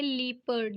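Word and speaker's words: leopard: यस, इसकी जो सही प्रोनाउंसिएशन है वो है लीपर्ड, जिसका मतलब होता है तेंदुआ।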